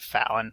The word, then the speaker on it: Falon: being brought to him spell with one L not two yep H so Fen faen fall I pronounce it Fallon but all right give